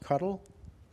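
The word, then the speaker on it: CoDel: uh control Q delay spelled c o DL but pronounced cuddle that's I don't know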